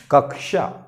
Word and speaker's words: कक्षा: कक्षा ऐसे बोल देते हैं, कक्षा वास्तव में शुद्ध उच्चारण नहीं है, ये वास्तव में कक्षा है। क्या है? कक्षा, कक्षा। ठीक, तो ये जो क्ष है ये आधा क और स मिलके बना है, तो ये अगर हम जानते रहेंगे तो शुद्ध उच्चारण कर पाएंगे। ये क और ये श, स पूरा रहेगा, याद रखना, क आधा रहेगा।